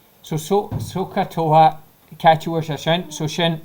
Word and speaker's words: SOHCAHTOA: So soka toa catch your session. So shin SOHCAHTOA. So shin doyale. Can you pronounce it to her?